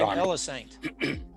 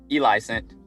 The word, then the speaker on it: Elicent: I've been saying Elisant. How do you say it? Elicent. Elicent, I'm sorry.